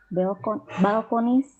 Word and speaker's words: balconies: Okay, so the nouns of the plural nouns, remember to see to pronounce the s. Okay, okay. buildings. Okay, balconies. Balconies.